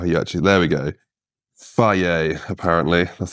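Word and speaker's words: Fage: grams of fruit on the scales and the phage, how do you say it? In fact, I think it even says on here how you actually, there we go. Faye, apparently, that's how you say it.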